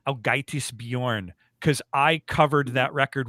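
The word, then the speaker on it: Ágætis byrjun: And that record is pronounced, I believe, Ágætis Björn, because I covered that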